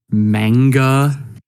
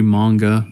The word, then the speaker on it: manga: would be even though they pronounce Japanese words wrong like manga mangatronics yeah it's supposed to be manga but whatever um I